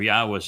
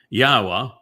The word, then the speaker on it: Yahweh: I go through the entire Hebrew lexicon and demonstrate without any doubt that the proper pronunciation of God's name is Yahweh. All right? So I am singular Yahweh your God who relationally and beneficially Asher brought